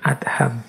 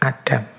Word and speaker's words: Adham: nama syekh Ibrahim bin adham membacanya memang bin adham bukan bin Adam nama lengkap beliau Ibrahim